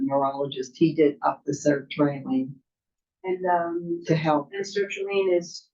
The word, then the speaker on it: sertraline: how do you pronounce Sarah Trailer? Sarah. Sertraline That's is, what it it takes.